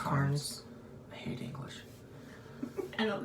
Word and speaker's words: Carnes: It's N-E-S. That's still pronounced It's Carnes.